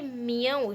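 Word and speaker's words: Millau: Bridge इसके बारे में बताया गया है कि मियो इसको प्रोनाउंस करते हैं मियो।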